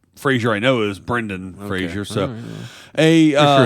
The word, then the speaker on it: Fraser: i know is brendan fraser so a uh it's pronounced fraser fraser fraser yeah so not like frasier not yeah not like